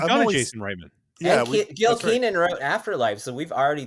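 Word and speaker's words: Gil Kenan: How do you pronounce his name? Is it Gil Keenan? Gil Keenan.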